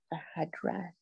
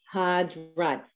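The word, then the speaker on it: בהדרת: Bahadrat. Behadrat. Always break it into syllables.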